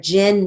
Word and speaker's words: gin: They raided the gin mill, period. Gin, it's spelled with a G, but has the J sound, so we're going to write it as J-I-N.